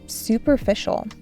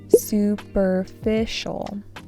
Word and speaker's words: superficial: He looked around and realized that much of what he was doing felt superficial. Superficial. Superficial. This has an emphasis on the third syllable.